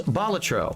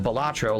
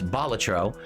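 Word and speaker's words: Balatro: Tri it as a reward okay tonight was batro I've been told that's how you pronounce it it's not batro like I was calling it it's batro um it's batro and luckily for me all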